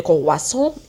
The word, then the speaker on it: croissant: cr او اي تنطق وا، اس تنطق س، ان تي تنطق on. je mange des croissants et je bois يعني اشرب، bois او اي تنطق وا، والاس هنا مش هتتنطق.